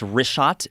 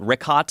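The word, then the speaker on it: Richat: want to say it's rot I used to call it Riot I was mispronouncing it but let me ask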